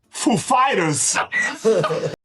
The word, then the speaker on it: Foo Fighters: he asked us if the accent was on Foo or Fighters. The accent is on Fighters, actually. He's like, ladies and gentlemen, Foo Fighters!